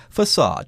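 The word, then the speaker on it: façade: Usually, there'll be a little indication on the bottom of that C that you have to pronounce it like an S or something like an S. Yeah, here it's facade.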